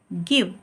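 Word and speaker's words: give: में ई आए तो ई का उच्चारण नहीं करते हैं अगर लास्ट में किसी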